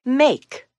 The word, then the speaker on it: make: words with the narrator make the a in make says it's long sound a and the e is silent the next three words